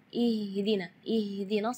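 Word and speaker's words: اهدنا: membaca ihdinas siratal mustaqim, baca H-nya keluarnya dari dada. Ya, itu tidak boleh, itu keluarnya dari dada. Sedangkan makhraj huruf H itu adalah dari tenggorokan. Jadi keluarnya tipis karena H itu termasuk huruf di antara 28 huruf hijaiyah yang paling lemah adalah huruf H.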